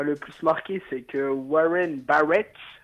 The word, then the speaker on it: Warren Barrett: Moi, figurez-vous, ce qui m'a le plus marqué, c'est que Warren Barrett, pour la prononciation anglaise, a le record donc de buts encaissés en 2 minutes.